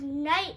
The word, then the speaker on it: night: Why does it have a G in it? I know, it's silent, isn't it? Why does night have a G in it? I know, it's spelled so crazy, isn't it? Night.